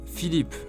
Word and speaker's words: Philippe: Number 2, Philippe, a popular man's name this time. Again, listen and pronounce it 3 times.